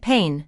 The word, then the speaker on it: pain: And for pain, the two vowels a and i create just one long vowel sound like pain, not two separate sounds.